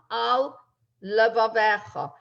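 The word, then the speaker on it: על לבבך: So the word al finishes with a lamed. The word levavecha begins with a lamed. You don't want to slur those two. You want to pronounce each one, al levavecha.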